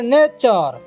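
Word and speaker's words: nature: পরে টি আই ও এন আছে সেটারে চ উচ্চারণ হয়েছে দেখো কোশ্চেন তারপরে নেচার দেখো এটারে টি পরে ইউ আর ইছি সেটারে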